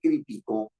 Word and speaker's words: criticó: cambiar el significado sí si yo digo yo critico es una grave y terminar en o nos lleva pero si digo él criticó tiene que llevar acento porque es una aguda que termina en o si eso es así